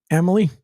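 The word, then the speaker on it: Amalie: yep that'll be uh how do you pronounce it Emily oh like the name Emily yeah that makes me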